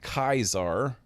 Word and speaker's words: Caesar: Caesar instead of Kaiser, which I guess that can go either way.